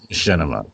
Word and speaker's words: Machinima: of two words but it's actually a combination of three words it's a a machine animation and Cinema so it's called get